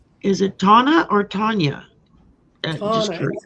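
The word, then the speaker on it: Tauna: Tana. T-A-U-N-A. Tana. Yeah, Tana is how, because of how it's spelled, but you know, some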